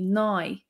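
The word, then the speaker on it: naoi: And the word for nay, the number nine, would be nigh.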